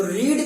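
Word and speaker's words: read: तो रीड का जो थर्ड फॉर्म होता है वो रीड ही होता है ना। रीड, रेड, रेड, spelling same रहती है, बस उच्चारण अलग जाता है।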